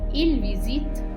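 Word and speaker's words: ils visitent: English speakers will have the tendency of reading the ENT at the end. But please refrain from reading the ENT at the end of il and elle plural.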